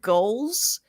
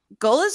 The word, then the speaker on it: Goelz: Who's been there this whole time, and that is, please God, let me pronounce his last name right. Dave Goelz, who is the voice. Goelz, is that it, Zach?